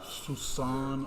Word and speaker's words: soupçon: It's not going to have that soupçon of sarcasm that it had before.